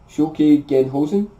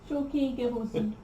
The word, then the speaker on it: Shoki Gehosen: Moving on, we have his rare attack, which is Shoki Genhosen. Did I pronounce that right? Shoki Gehosen. Shoki- Yeah, you added an end, yeah. but you're pretty much there.